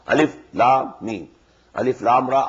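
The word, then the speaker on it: الم: These are pronounced separately, and so they are the broken into pieces. Not pronounced as Alif Lam Mim Alam, no. Alif Lam Mim.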